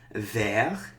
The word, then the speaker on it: vert: So brun becomes brune, vert becomes verte. We don't normally pronounce this consonant, okay?